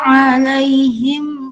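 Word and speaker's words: عليهم: Nah, alaihimnya di sini ada hukum tajwid yaitu mat layin karena ya sukun bertemu dengan maksudnya ya sukun jatuh setelah harokat fathah, maka dibaca lemas alai. Seperti itu, makanya dibaca mat layin.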